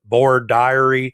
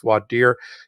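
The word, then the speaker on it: voir dire: law school my Southern based professors called it Bor diary it's pronounced different ways throughout the country it's generally pronounced vad deer it's both French but really Latin because in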